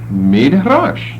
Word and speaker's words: midrash: i d SCH and how would you pronounce that midrash that's the word we're